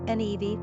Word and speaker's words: Niamh: Currently on Ireland's top 50 list are names like Kiva, pronounced Keva, Saoirse, Saoirse, Sierra, Kayere, Niamh, Nevi, Roisin, Roisin, Aisling, Ashling, and Clodagh, Clodagh.